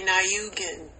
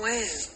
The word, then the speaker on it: Wynn: Like, you want to say Nayukin, but it's just Wynn.